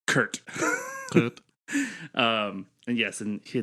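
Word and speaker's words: K'rt: out first so it's K apostrophe RT so it's Kurt um and yes and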